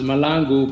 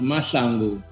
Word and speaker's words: Mahlangu: In America, it's pronounced Malangu, but in South Africa, it's pronounced Masalangu.